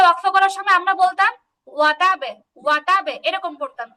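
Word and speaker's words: وَتَبَّ: বাটা দুইবার উচ্চারণ হবে আর কি। আপু দুইবার না, দুইবার, খেয়াল করেন দুইবার না, মানে কি যে নরমালি ওয়াতাবে একটু বলতাম ওয়াতাবে, কিন্তু এখন একটু শক্ত করে বলবো ওয়াতাব, এরকম বলবো।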